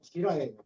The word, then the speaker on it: 지라: 우리 원래의 발음은 지라예요.